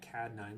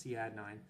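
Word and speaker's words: Cadd9: Some people like to call that CAD 9, but it's actually pronounced C add 9.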